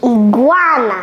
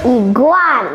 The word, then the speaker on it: iguana: Iguana. Once again? Iguana. Again. Iguana. Okay. Iguana. Donc, c'est pas I, c'est I. Okay? C'est pas I, c'est I. C'est pas iguana. Okay? It's not iguana.